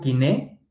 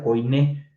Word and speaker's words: koiné: el amor sublime, pero en el griego kiné, que es el griego de la Biblia, por cierto, no se pronuncia koiné.